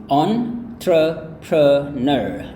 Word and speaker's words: entrepreneur: Ini sebenarnya berasal dari bahasa Prancis ya, French. Jadi itu kemudian di-Englishkan gitu ya. Nah, cara melafalkan kata ini gaya British itu kayak yang ini ya, yaitu entrepreneur.